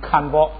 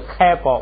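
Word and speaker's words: 堪布: 我就想起堪布来了，我就给读成堪包。实际上不是，哎，这是开包，不是看包。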